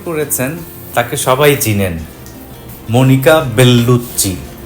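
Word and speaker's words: Bellucci: যিনি অভিনয় করেছেন তাকে সবাই চিনেন, মনিকা বেল্লুচ্চি। দুটো এল আছে, দুটো এলই উচ্চারিত হবে। দুটো সি এর জন্য চয় চয়, অনেকটা আমরা কাচ্চি বিরিয়ানিতে যেমন বলি।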